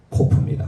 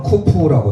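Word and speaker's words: קוף: 시작하고 게 바로 코프 함께 고백하겠습니다 코프 코프 예 또는 쿠프라도 합니다 쿠프 그러 이제 어떻게 있는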